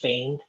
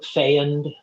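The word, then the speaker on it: FEOND: f-e-o-n-d and it it one way to say is feigned like rhymes with rain oh really yeah yeah or fanned um but most people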